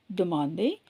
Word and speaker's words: demande: ஆனால் இஎன்டியை நம்ம ப்ரொனவுன்ஸ் பண்ண மாட்டோம்.